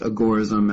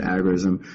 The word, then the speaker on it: agorism: still living friends that he preferred it to be pronounced agorism as in the Agora but most of us I think have come to pronounce it agorism um but yeah the